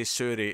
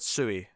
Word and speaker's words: Suri: I said Sui. Essentially, I didn't say the R properly.